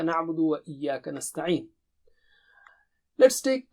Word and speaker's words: نَعْبُدُ: Na'budu. If you have problem pronouncing or articulating or saying ayn, this is the best practice.